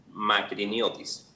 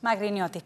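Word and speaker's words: Makriniotis: ¿Me instruyes en cómo se pronuncia tu apellido, por favor? Magriñotuis. Magriñotuis, perfecto.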